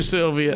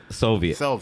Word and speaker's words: Soviet: Smoking like a true Sylvia. Yeah, man. Oh, my God. Soviet, right? Soviet.